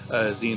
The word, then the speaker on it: zine: are so if you've never heard of a zine before the term itself comes from magazine and it's pronounced a magazine that design but Xion like magazine and it is a small publication